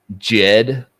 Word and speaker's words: Djed: He had this thing called the Jed Pillar, DJED. And Osiris was known as a Jedi. He had a Jed staff. Yeah, bro. Just spelled with a D at the beginning.